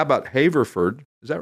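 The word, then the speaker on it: Haverford: last week where did you ask how about haford is that right right hord oh haford Pennsylvania you guys Main Line we're just keeping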